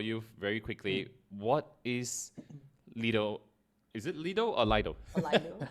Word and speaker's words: Lido: There are people who from Russia who pronounce it as Lida. Lida, interesting. Yeah. Because O is pronounced as A in Russian.